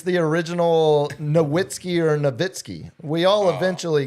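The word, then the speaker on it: Nowitzki: It was Noitzky. Waggler. It's the German V. The W. German W is a V is how we pronounce a Vitzki.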